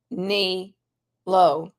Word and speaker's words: Nélo: you should know about Neo pronounced Neo life who's behind Neo life